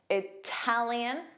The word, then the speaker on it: Italian: Italian, strong T.